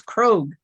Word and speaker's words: Krog: Looks like it should rhyme with frog, krog, but it really sounds like road. So it's Krog.